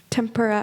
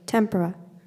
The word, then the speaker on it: tempura: tempura as an appetizer tempura are there any alternate pronunciations tempera speller four we'll start